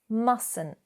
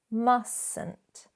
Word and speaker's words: mustn't: So essentially we're pronouncing the second T, but not that first one. It becomes silent, not mustn't, if that's right.